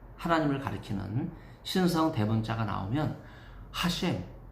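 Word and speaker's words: השם: 유대인은 히브리어로 야훼 하나님을 가리키는 신성 대문자가 나오면 하셴 이렇게 발음을 합니다.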